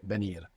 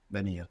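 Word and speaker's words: venir: the spelling V but more commonly you would hear benir benir like a soft B first let say do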